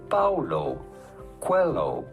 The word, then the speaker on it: Paulo Coelho: How do you go about pronouncing his name? Paulo Coelho.